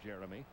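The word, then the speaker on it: Geremi: actual spelling of his first name is g-e-r-e-m-i-s pronounced jeremy but to make it easier for radio and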